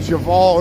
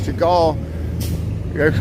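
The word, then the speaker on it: Chagall: hour long thing where I kept saying shaval instead of shagal close but no cigar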